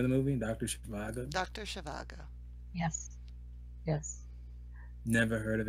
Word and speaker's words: Zhivago: Okay, so okay, you're gonna help me out with pronouncing this doctor's name, Mary B. Yeah. First question: what is Dr. Zhivago? Shivago.